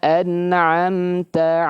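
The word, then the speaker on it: أَنْعَمْتَ: Sirathalladzina an'amta alaihim. Anamta bukan anamta. Anamta. Bedakan Bapak Ibu sekalian antara Hamzah dan ain. Bedakan antara Hamzah dan ain. Jangan diucapkan kedua-duanya hamzah atau keduau kedua-duanya huruf huruf ain.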